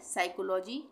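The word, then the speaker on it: psychology: यह है साइकोलॉजी, P silent, P से स्टार्ट होता है वर्ड पर पी साइलेंट है, साइकोलॉजी।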